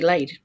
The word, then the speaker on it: Layd: loud sounds reasonable, but my dad doesn't call me lady. My dad calls me Lade, and so we spell it that way, Layd.